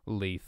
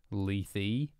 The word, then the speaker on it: Lethe: we're learning things today Cardinal doomsday is angry at my pronunciation of leaf apparently it is Lethe I thought that was